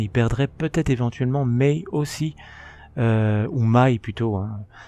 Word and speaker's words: Mai: perdrait non seulement Bulma, mais il perdrait peut-être éventuellement May aussi ou May plutôtin. Je dis May depuis le début mais je pense que ça se prononce ma.